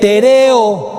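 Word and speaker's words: τηρέω: es nuevo testamento griego viene de tereo tereo acento en la segunda e tereo como de Teresa tereo y fijen lo que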